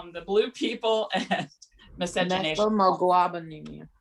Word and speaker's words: methemoglobinemia: She's going to talk about the blue people, methaglobinemia, and the blue people and miscegenation. Methemoglobinemia. How do you pronounce? Say it again. I think it's methemoglobinemia, right? Right. Okay, good.